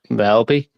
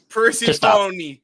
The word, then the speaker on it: Persephone: All right, TBS Championship, Fatal 4-Way, Alex Windsor, Bozilla, how do you pronounce her fucking name? I'm sorry. Velby? No. Selby? Pre-phone. James, just stop. Just stop. Persephone, you big fat phony.